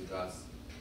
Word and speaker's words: Gus: Can I have 1 second, board, to speak to Gus? The way you remember Gus's name, it rhymes with bus.